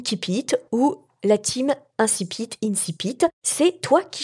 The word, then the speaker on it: incipit: houle linsi pitt alors en fait il y à des querelles entre les latinistes pour le prononcer à la latine à savoir inti pitt ou alors de le franciser et de d'irrintzi pitt ou incipit alors moi je te propose de le prononcer à la française et de dire incipit comme ça ça met